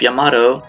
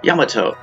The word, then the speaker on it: Yamato: lost since they call the ship Yamato when in Japanese is really pronounced Yamato hopefully 300 years in